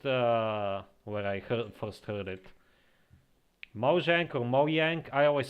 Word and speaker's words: Mojang: But I also read that in Swedish it's pronounced Mojang, because in Swedish the J is a Y kind of thing.